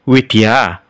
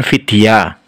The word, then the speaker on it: Widya: Oh ya di sini huruf v dalam bahasa Sansekerta tidak dibaca mirip Hai tapi dibaca mirip gue jadi ini bacanya adalah Widya bukan Vidia contoh lain ini dibaca